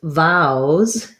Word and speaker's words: vows: So vowel versus vows just has my ow sound, my ow diphthong, and a Z sound, vows.